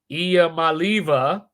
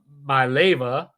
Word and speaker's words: Iamaleava: Nico Iamaleava, I think that's how you say it. Iamaleava, I believe is how you say it.